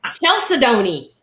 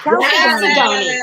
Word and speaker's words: chalcedony: I read it first and read it that way for 30 years before I heard it. Chalcedony. Yeah. Chalcedony.